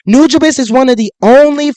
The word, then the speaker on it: Nujabes: So please say Nujabes.